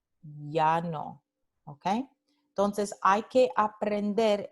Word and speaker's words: llano: También las letras doble L, como en llano, representan este mismo fonema ya, llano, ¿ok?